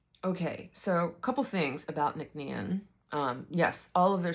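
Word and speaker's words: Nc'Nean: So, that's why they've shortened it uh to this pronunciation and spelling of Nickn.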